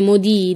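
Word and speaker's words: Modì: dell'artista romantico e maledetto il tuo soprannome modi dalle prime lettere del suo cognome ma la cui pronuncia assomiglia la parola francese modi cioè un maledetto la prima mostra di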